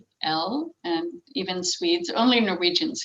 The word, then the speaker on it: Rekdal: Rekdal, Rekdal, and even Swedes.